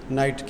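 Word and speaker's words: knight: उसके बाद नेक्स्ट क्या है जी, नाइट क्या साइलेंट है जी? के साइलेंट है।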